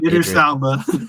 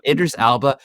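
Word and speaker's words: Idris Elba: Idris Alba. Idris Alba. There it is. It's like if I hear it, then so Idris Alba.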